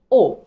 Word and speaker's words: aux: Nous avons aussi AUX, O. C'est la même prononciation, sauf que AU, c'est singulier et AUX, c'est pluriel.